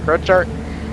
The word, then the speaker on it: Crochart: Now, Jarl said what is it, Crochart? So he's closer to Simon as far as regions go, so we're going to go with Jarl's pronunciation of it. So we're going to say Simon Crochart.